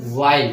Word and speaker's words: while: सबसे पहले इसका प्रोनाउंसिएशन वाइल है, ठीक है। इसको वाइल पढ़ते हैं, कुछ लोग इसको व्हील पढ़ते हैं जो कि गलत है।